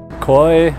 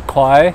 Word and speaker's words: Khói: Khói, or khoai, how you pronounce it in Vietnamese, means smoke.